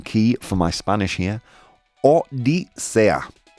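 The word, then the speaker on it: Odisea: Um, I'm getting a little pronunciation key for my Spanish here. Odisa, like OA, thank you. Odisa.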